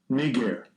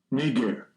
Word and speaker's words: Niger: Here's how you say it, right? Not me. I didn't make it up. Strong's G 3526. Niger. Niger.